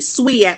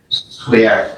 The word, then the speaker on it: SWAK: You said it correctly. Swak like you're sweeping. Yes. Swak.